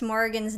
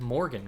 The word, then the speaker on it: Morrigan: I could have swore you said Morgan. I just said it really fast. I said Morrigan.